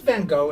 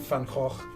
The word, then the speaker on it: Van Gogh: But Van Gogh and Van Gogh is really Van the same.